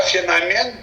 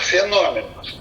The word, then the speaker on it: феномен: Слово «феномен» всегда произносится как «феномен», никаких феноменов. Это учтите наши культурные деятели.